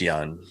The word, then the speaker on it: Yeun: I think it's pronounced Young, but I don't Young know in for sure. Minari. What's your pick, Janelle? I'm going to say Stephen Yeun, even though for Chadwick Boseman probably will win.